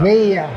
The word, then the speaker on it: Veya: How do you pronounce it correctly? Vaya or Vaya? Vea.